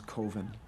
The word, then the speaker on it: Coven: The name of the film is Coven. It's pronounced Coven, man. What else could it be pronounced? Coven. That's the proper Oh, pronunciation. damn, dude, it's 4th and 1. No. Coven Shit. sounds like oven, man, and that's just, it doesn't work.